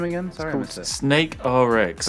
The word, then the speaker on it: SNKRX: Snake RX. But it's spelled SNKRX. SNKRX.